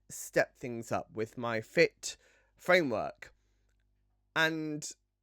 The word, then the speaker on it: FIIT: So, introducing FIT. Double I. I feel like I have to pronounce that.